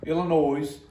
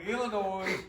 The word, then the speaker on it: Illinois: in South Carolina two Illinois Illinois S no there's this on it it's silent then don't put it